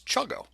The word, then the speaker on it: CHGO: content for chgo sports which I think you guys should pronounce chugo I like it see